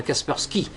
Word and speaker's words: Kaspersky: d'office qui s'appelle Kaspersky, puisqu'on le prononce à l'anglaise, on va Kaspersky. Et cet antivirus Kaspersky, c'est un brevet russe, en réalité c'est une entreprise totalement russe.